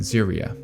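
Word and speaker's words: Serie: the show furin obviously craft the Monk and ziria yeah apparently that's how you pronounce Siri and yes I did not know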